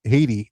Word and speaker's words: Haiti: Taking on the 83rd in Haiti, as my people call it, IT, because the H is silent.